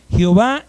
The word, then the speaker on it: Jehová: significa Jehová Jehová escúcheme Jehová es la pronunciación aceptada de ye hw el nombre de Dios